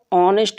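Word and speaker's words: honest: एच किसमें silent है एच जो होता है वो ऑनेस्ट में साइलेंट होता है ये वाला ये नेस्ट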